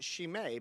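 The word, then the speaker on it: Scine: on Instagram at shame it looks like though s-c-i-n-e Instagram yeah Instagram uh shame s-c-i I I mean just like it sounds but it's pronounced she may because I'm Italian and they wanted to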